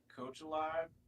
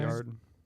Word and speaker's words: Cotillard: put Marion Cotillard. I don't know how to say her name. I'm sorry. Cotillard? Cotillard.